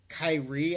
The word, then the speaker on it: Kyrie: and over he's like no it's Wendell and Kyrie Irving it's like it's Kyrie a tennis I'm like come on it's like